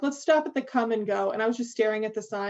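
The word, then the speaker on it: Kum & Go: Does Ollie know about the chain of gas stations we have here called Come and Go, and it's spelled K-U-M?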